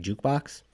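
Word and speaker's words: JQBX: website called like it's you say it like jukebox but it's g-a-q-b-x dot fm i think where if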